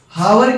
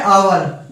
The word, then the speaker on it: hour: हावर क्या है हमारा? घंटा। और इसके लिए आर्टिकल क्या लगाते हैं हम? नहीं क्या है? ये साइलेंट है। क्या है? आवर।